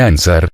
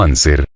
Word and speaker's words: anser: la historia de ansar no se dice ansar sino anser clamaba plomo pero el